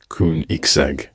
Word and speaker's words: Koenigsegg: It's actually pronounced koon-ig-seg.